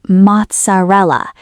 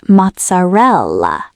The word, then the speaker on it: mozzarella: People often say mozzarella, but the correct pronunciation is mozzarella. The stress is on the third part.